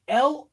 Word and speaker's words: Lorne: i cannot say your first name is it l-o-r-n-e or is it l-o-m-e i actually literally cannot